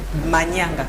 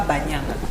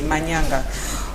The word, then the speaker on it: Manyanga: Donc, Tolobaka Banyanga, Manyanga, des fois, on prononce mal certaines choses par manque de connaissances. Mais sur Banyanga, normalement, c'est Manyanga, pas Banyanga. Donc, c'est Manyanga.